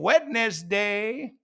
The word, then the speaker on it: Wednesday: I hope you're having a wonderful Wednesday." Wednesday. Not Wednesday, Wednesday.